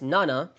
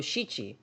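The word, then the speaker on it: 七: Um, but make sure not to because there's two pronunciations for the number seven uh in Japanese. There there's there's nana. Uh, but there's also there's also shi-i and the uh the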